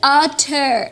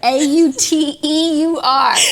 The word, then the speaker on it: auteur: Robot and, from some auteur. Wow, this is like the most elevated article I've ever fucking Very read. dense. Okay, what I don't, the word is auteur, A-U-T-E-U-R.